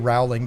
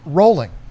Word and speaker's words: Rowling: pronounce her name JK Rowling did you know that that's wrong a lot of people don't her last name is pronounced rolling it's bowling with an R but a but half